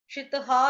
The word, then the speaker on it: श्रितः: श्रितहा भी बोल सकते हैं, श्रितः भी बोल सकते हैं, दोनों ही ओके हैं।